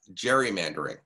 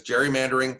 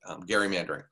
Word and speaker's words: gerrymandering: we see a movement towards more democratization because gerrymandering can be a problem for democratization and i just mispronounced it gary mandarin so you see many states for example the